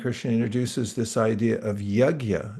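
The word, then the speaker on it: yajña: introduces this idea of yagya. That's spelled y a j n with a little squiggle over it and an a. Yagya.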